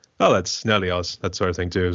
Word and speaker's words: Nelioz: Oh, well, I pronounce it Nelioz, but you can do it any way you want, really.